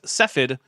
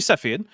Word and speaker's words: Cepheid: Cepheid. It's actually Cepheid, but yeah, you know what? What's a syllable between friends?